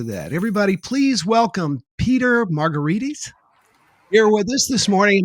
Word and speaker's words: Margaritis: on your name dude it's pronounced like a cocktail mark margaritas but if you look at it closely well it's spelled more like an inflammation like marcoritis so i'll take margaritis but not marcaritis now where do we